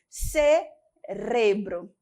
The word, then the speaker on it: cerebro: Cerebro. Essa é diferente, parece tão estranho para a gente, não é verdade? No português nós temos cérebro. É até um pouco difícil de falar, dependendo da frase, a gente se engasga. No espanhol nós temos o cerebro.